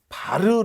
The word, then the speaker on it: var: 그럼 이것 을 ' 바르 ' 라고 발음 합니다 .